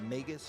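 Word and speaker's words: Magus: fight called the Ma the Megas or Maga Sisters. It depends on how you want to pronounce it. I've always said the Megas sisters.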